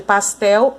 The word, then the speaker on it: pastel: A sílaba tônica de pastel é o tel.